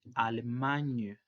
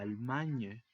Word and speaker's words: Allemagne: Y si decimos mexicanas, sería mexiquen, sin nasal, y la S también escrita al final, pero sin pronunciarse. El siguiente país es Alemania, que en francés se dice Allemagne.